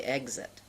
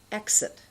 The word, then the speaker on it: exit: here's some words exit now many people mispronounce that and they say exit that's wrong it's exit explain excellent execute the